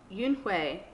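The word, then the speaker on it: Unhei: turned to joey she nodded slowly yes it's pronounced yoonhue and it means grace mr kim ad added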